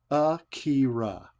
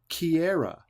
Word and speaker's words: Akira: Akira. Yet, it seems that Patience has suddenly forgotten her name, as she repeatedly mispronounces it, saying Kiara instead.